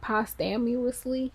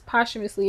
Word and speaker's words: posthumously: posthumously. I hate saying that word because it's not spelled It's spelled like post-amously. Okay. But it's posthumously.